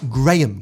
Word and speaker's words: graham: S'mores are made with graham crackers, not graham crackers.